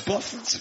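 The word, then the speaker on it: Bough: I should tell you my name is spelled B-O-U-G-H, not you've misspelled my name. You go, no, it's Boff.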